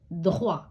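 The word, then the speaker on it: toit: ஏ ஓ ஈ தே துஹ்வா இங்க தே அமைதியாக இருக்குது தே உச்சரிக்க படல அதே அதேபோல துவா தே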